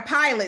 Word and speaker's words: Pilate: Pilate, excuse me.